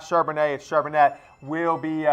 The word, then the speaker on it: Charbonnet: is Zack Shar banette I've actually been pronouncing like he was French apparently it's Josh not Charbonnet if sure Burnett will